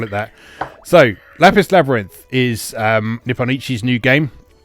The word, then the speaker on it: Lapis x Labyrinth: Do you say the cross or not? I don't think you say the cross. Yeah. Okay. Lapis Labyrinth. Then that's agreed. We'll call it that. So, Lapis Labyrinth is Nippon Ichi's new